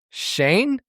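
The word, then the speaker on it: Schoen: Joe Shane. It's just like the first name Shane.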